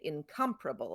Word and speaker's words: incomparable: In incomparable, it's on the second syllable. Right. Right. Instead of on the third syllable.